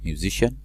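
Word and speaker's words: musician: عندي كلمات مختصة بالميوزك الموسيقى، ميوزيشن موسيقار، ميوزيشن موسيقار. تخلي بالك السي اي بتنطق شين هنا.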